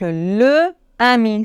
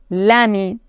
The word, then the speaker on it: l'ami: l apostrophe par exemple le ami c'est difficile à prononcer on doit dire l'ami là il est difficile